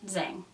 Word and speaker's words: Zhang: That's how you say it. Zhang. The H is silent.